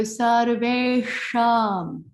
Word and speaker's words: sarveṣāṃ: sound the A, sarve, the mouth changes and a space opens up towards the brain. Sarve. So we carry on with that space. We go sarveṣāṃ. If we don't carry on, we change the pronunciation, which is changing the vibrations.